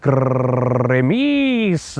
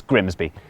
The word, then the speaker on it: Grimsby: But what if we told you it was pronounced Grimis? Yeah, I don't think that's correct. We'd be lying, it's Grimsby.